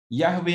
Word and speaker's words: Yahweh: di teks Ibrani ada empat huruf yhwh dan kita bisa membacanya Yahoo Yahweh adalah Allah Israel dan Israel